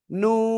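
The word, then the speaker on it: ن: কোন জায়গাতে উচ্চারিত হয় জিব্বার আগা তারপর আবার উপরে তালুর সাথে লাগাবো লাগিয়ে আমরা চার আলিফটা নিয়ে উচ্চারণ করব কয় আলিফ চার আলিফটা নিয়ে উচ্চারণ করব নুন সবাই একসাথে জোরে জোরে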